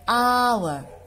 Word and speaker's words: hour: ah so ah um an umbrella be an hour so this is the silent right hour and honest person and honor and air right